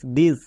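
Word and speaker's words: this: এর পরে আই আছে কিন্তু টি এইচ এর জন্য দোয়া হচ্ছে কেন কারণ এখানকার প্রত্যেকটি ওয়ার্ড ব্যতিক্রম এরা রুলস ফলো করে না যেমন দেখো টি এইচ আই এস দিস টি এইচ এ টি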